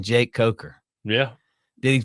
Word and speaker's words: Coker: So you got the president of the United States saying Jake Coker. Yeah. Did he pronounce it right? Like, we were in that golf tournament and they called you Croker.